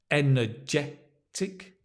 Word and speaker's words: energetic: Energetic. Let me just make it clear for you, the stress, energetic.